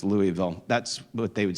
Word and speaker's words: Louisville: Seminary in Louisville, Kentucky, the locals say Louisville, but I'm with Dr. Mohler that says it's not named after King Lowell, it's named after King Louis, right? So it's Louisville.